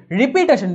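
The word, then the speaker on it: repetition: রিপিটেশন, রিপিট থেকে এটা আসলো, এটার উচ্চারণ কিন্তু রেপিটেশন হবে, ঠিক আছে, রেপিটেশন হবে, খেয়াল রাখতে হবে এটা।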